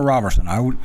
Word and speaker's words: Roberson: Roberson or Roberson?